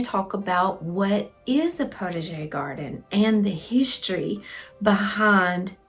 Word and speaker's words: potager: Some are just totally not the correct way, but potager is the way that I've heard it pronounced the most, and I think it's the correct way to pronounce it, potager.